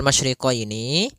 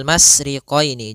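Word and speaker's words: الْمَشْرِقَيْنِ: Pada lafal masyriqaini maka di sini ada huruf syin maka kita harus membacanya dengan adanya sifat tafasyi. Apa itu tafasyi? Tafasiyi adalah salah satu sifat yang terkandung di dalam huruf syin yaitu menyebarnya suara. Sehingga jangan dibaca rabbul masriqini.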